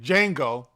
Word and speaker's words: Django: django unchained or wait django the d is silent leo leo dicaprio said